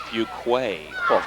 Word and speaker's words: Fuqua: those will be Lee Fuqua for the Bulldogs he is a 511 Junior would you believe it's pronounced Fuquay we were actually throwing off q-u-a well on the